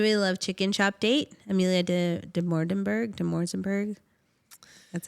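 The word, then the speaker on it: Amelia Dimoldenberg: Amelia de Morzenberg.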